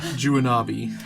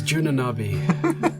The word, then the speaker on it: Juanabi: Juanabi. Oh, I thought it was Junanabi. No, that's someone else. That was a misprint in scripture.